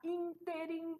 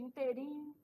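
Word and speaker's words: ínterim: aqui é o conhecimento acerca da sílaba tônica que faz a pessoa acertar interim em vez de interim né nesse interim conhecer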